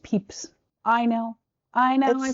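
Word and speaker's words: Pepys: This guy named Samuel Pepes. Oh, so I've said that for years and and had an unfortunate reckoning. It's I knew you would know. Technically pronounced Peeps.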